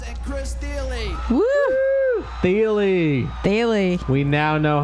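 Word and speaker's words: Thile: Daily. We now know how it's pronounced.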